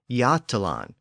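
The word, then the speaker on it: Götaland: Scandinavian Peninsula is called yalon and it's spelled g o t a l a n d which reflects an earlier pronunciation with an initial G sound so it would have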